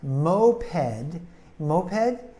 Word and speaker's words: moped: a type of motorcycle now moped is a one syllable word so we can't emphasize one syllable in there but moped moped is two syllables and he emphasize the first syllable so moped means she